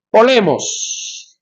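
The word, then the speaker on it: πόλεμος: Cabe aclarar que el término guerra, ¿cómo es que cómo es que se pronuncia en el griego el término guerra? A ver si lo recuerdan. Ya. Polemos, polemos.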